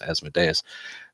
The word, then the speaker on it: Asmodeus: hasn't been cast that's calling them it's it's Asmodeus I still think that's pronunciation is dumb should be be Asmodeus anyway